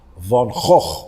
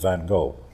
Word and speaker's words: Van Gogh: color and, you know, I loved Cézanne and Van Gogh, which is how you pronounce his name, not Van Gogh.